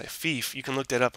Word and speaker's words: Fief: tell me about um a game called Thief which is spelled f what is it FF yeah fief you can look that